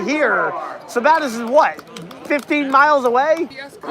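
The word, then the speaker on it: Sabattus: Two-time Oxford Plains Speedway champion goes next on the grid from Savitus, Maine, the Stanley X Can he pronounce that right just once?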